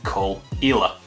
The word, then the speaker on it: Caol Ila: the K all isn't really that obvious either pronounce it cool so you get call ela located up on the northeastern coast by porous